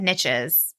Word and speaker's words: niche: riches are in the niches and I just said niches because it rhymes with riches but usually I say